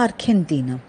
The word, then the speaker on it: Argentina: In case of La Argentina, as after G, we have E, so after G, if there is E or I, so G will be pronounced as K, so La Argentina. The next rule is, in